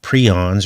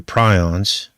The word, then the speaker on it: prion: is going to be about prions or prions you can pronounce it either way and what are they